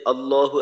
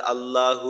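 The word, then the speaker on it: الله: হয়েছিল যে আল্লাহ এইখানে আল্লাহ শব্দের যে আলিফ হামজার যে উচ্চারণটা আছে এটাকে লম্বা করা যাবে না কোনভাবেই এটাকে লম্বা করা যাবে না এটা লম্বা হইলে অর্থের মাঝে ব্যাপক ধরনের একটা পরিবর্তন চলে আসবে তো এটাও দেখা যায়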